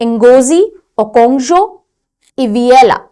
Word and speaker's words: Ngozi Okonjo-Iweala: इनका नाम ढंग से पढ़ना, ये प्रोनाउंसिएशन कई बार बच्चे गलत करेंगे। Ngozi Okonjo-Iweala, Ngozi Okonjo-Iweala, नाम ही बड़ा डिफरेंट सा है, हाँ डिफरेंट सा है ना।